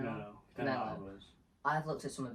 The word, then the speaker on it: Canelo Alvarez: Canelo Alvarez.